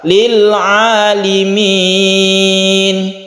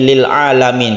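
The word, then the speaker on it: لِلْعَالِمِينَ: Lil alimin Lili Mini banyak yang terkecoh membacanya ini lil'alamin karena rata-rata Al Amin ya rabbil alamin atau alamin banyak sekali dihayati ayat yang lain tapi khusus ini lam nyanyi berharokat kasroh Yalil alimin alimin yang bukan alamin tapi dilala ayat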